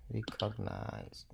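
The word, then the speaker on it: recognize: এখানে তিন সিলেবাসের শব্দ, তিন সিলেবাসের সিলেবালের যদি শব্দ থাকে তাহলে রেকগনাইজ, আপনি বলবেন রেকগনাইজ, রিও না রে, রেকগনাইজ।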